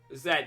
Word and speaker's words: Z: Zed, yeah, that's how we pronounce Z. We pronounce it Zed.